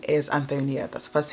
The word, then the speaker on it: Antonia: My name's Antonia, not Antonia, not Antonio, not Anthony, not Anthony.